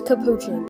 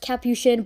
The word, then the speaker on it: Capuchin: this is Capuchin I know I'm saying it wrong and it's pronounced Capuchin but I don't care